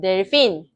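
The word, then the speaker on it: delfín: 영어에서 그 반번대기 발음 no 할 때 그거랑 똑같다고 생각해 주시면 돼요. 반번대기 발음. 요 발음인 거죠. 그래서 델핀입니다. 대 아니에요.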